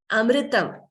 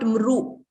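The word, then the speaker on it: अमृतम्: Here, amritam, this word is very common and also very commonly mispronounced also. So here, if you see this mr here, second line, this mr, amritam. So it should not be, it's not mru. It's not mru, mlu. No, it is mr, ml.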